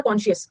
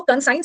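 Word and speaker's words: conscious: लिख लो यू आर कॉनशियस aware है और होश में है एक तो कॉनशियस इसको कंसाइन मत पढ़ना ये कंसाइन नहीं है ये कॉनशियस है अब इसको लिखो अंतरात्मा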